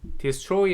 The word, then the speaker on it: destroy: destroy 하는 것도 second syllable의 강세가 있습니다.